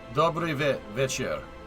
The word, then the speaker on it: Dobry večer: Dobry večer.